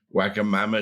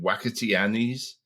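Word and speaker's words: Wagamama: That's like my mother called she could never get her get her head around waga mama. She called it wacky Annies.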